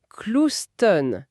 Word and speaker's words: Clouston: Petite anecdote, il tenait à la prononciation Clouston.